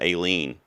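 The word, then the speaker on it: A Lien: Live Action Short I missed because I picked Alien, which, by the way, they pronounce it Aileen. Did you notice that? So I guess it's Aileen. I've been saying Alien all season.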